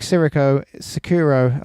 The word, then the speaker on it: Sekiro: How do you pronounce it? Sekiro.